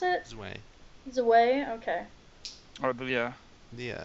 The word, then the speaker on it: Zwei: What do you guys, speaking of Resident Evil 4, what do you guys think of Zui? Is that how you pronounce it? Zwei.